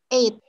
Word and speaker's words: eight: Jadi cara bacanya ini GH-nya nggak dibaca, coba teman-teman. Ini GH-nya jangan dibaca. Jadi bacanya adalah 8, night, sama tight.